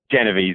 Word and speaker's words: Genovese: Do you know the pronunciation of her last name? Genovese.